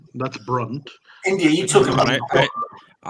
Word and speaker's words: Brunt: The correct pronunciation is Brunt.